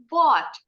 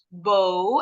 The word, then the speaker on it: bought: Jadi tinggal buang R-nya aja. Brought jadi bought. Jadi kalau next time, sorry, guru bahasa Inggris kalian di sekolah, pengucapannya masih bow atau brought. Nah, jangan diikutin ya, baca yang betul tadi. Brought and bought.